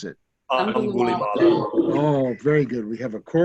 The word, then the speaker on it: Angulimala: I forget how to pronounce it. Angulimala.